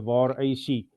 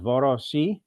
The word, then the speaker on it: VarAC: of pronouncing it but locally we've been um using the VA ac uh pronunciation Um, some people use VARC, although I think if you want to use the play on the call sign, then uh the VAR AC would possibly be more appropriate.